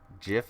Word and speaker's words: GIF: That's a hard G, right? GIF is a hard G.